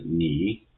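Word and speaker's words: 你: For example, here, this Chinese character pinyin is pronounced as ni. So there are two letters of this pinyin, that is N and I. N will be mapped to the pronunciation as N in the English word no, and I will be mapped to the English letters EE as in C. So in this way we can pronounce it, putting them together as ni.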